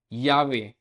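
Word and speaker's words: llave: Double L in most regions, most of the reasons में इसकी sound रहती है जो वाई लेटर की यस के अंदर ये रहती है, यस, ये की साउंड। यावे मतलब की।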